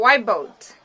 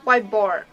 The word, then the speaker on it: whiteboard: write the sentences called white boat oh actually we pronounced whiteboard whiteboard is not a white boat blah